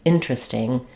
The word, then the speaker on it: interesting: very interesting experiments I so you've heard real speech of all three ways we pronounce this but I highly recommend going with interesting the majority of people say it it's easy and it's it's going to sound the most natural and most like a